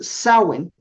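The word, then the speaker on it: Samhain: Como algunos lo pronuncian se escribe en español para nosotros samain o samin en inglés pero creo que la pronunciación es sawen y realmente tenemos muy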